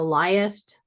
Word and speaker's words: liest: a conjugated verb um if an e is pronounced uh we retain the E and there's no apostrophe so thou liest as Ariel says in the Tempest trying to